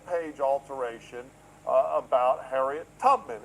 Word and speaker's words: Tubman: And they're all referring to this web page alteration uh about Harriet Tubman. And it's Tubman, not Tutman as you pronounce.